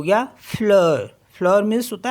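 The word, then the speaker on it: fleur: एल ई यू आर तो ये हो गया फ्लर फ्लर मीस होता है फ्लावर नेक्स्ट वर्ड है हमारे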